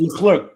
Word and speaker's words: Leclerc: Is it Lurlick or you know Oh, who the I'm talking closer, about, right? Leclerc, Yes. Leclerc, Leclerc, Leclerc.